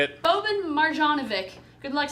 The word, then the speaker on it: Boban Marjanovic: Boban Marjanovic.